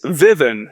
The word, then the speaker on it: Vivun: How do you pronounce Vevon correctly? It's Vivan. Sharp letters and funny story Gerhard, it's actually a Finnish word.